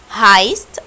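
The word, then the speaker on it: heißt: في هايست دو، ركزوا ان ده حرف الاس 6 عشان كده انا نطقته زي الاس مش بي.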